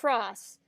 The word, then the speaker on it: TROS: He and I have a debate because I pronounce it Tross. He does not like that I say it like a word.